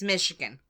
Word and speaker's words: Michigan: any Americans out there call it Michigan, like a TH kind of sound? No. Or is it SH? It's Michigan. Yeah, it's Michigan.